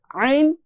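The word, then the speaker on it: ع: একদম মাঝখান দিয়ে যদি আপনি একটু চাপ দিয়ে পড়ার চেষ্টা করেন, তাহলে এই দুইটি হরফ পড়তে পারবেন, আইন হা। মাঝখানের কণ্ঠনালীর মাঝখান থেকে যদি একটু চাপ দিয়ে চেষ্টা করলে কিন্তু এই দুইটা হরফ সুন্দরভাবে উচ্চারণ করা যায়।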